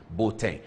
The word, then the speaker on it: Boateng: That's how the people where he grew with, that's how they pronounce his name, Boateng.